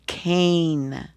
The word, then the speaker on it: cane: Can you read this word without that silent e? This is the word can. But with that silent e, it changes this a into a. So it's cane.